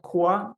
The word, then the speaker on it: QOA: survey in the beginning asking native speakers how would you pronounce qoa the majority said koa and i think this